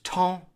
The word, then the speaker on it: temps: So you're basically pronouncing the E-M as a nasal sound, and it's the exact same sound as in the word enfant. So in the word enfant,